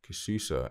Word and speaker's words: Kususa: afrobeat techno and African music the duel's name pronounced kishusa is both a combination of the pair of